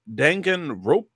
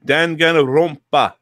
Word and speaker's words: Danganronpa: I had played a game called Danganronpa, I believe it's pronounced. I believe there's three pronunciations of that game, Good. and they're all correct. So yep, you're good. Oh, you want to try Danganronpa, Yep, which there's would another be one.